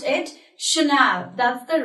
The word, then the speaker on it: Chanel: on Scotty I'm pronounced with a Chanel not channel or channel no we pronounced it Chanel that's the right format of pronouncing this word